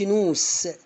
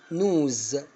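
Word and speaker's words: nose: ادي كلمه اهي اللي هي انف، ما اقولش نوس، نوز. شفت نطقتها زي الزين ازاي؟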